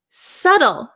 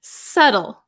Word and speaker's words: subtle: that's an easy one subtle this one's a a little bit difficult to explain subtle subtle silent be so delicate or precise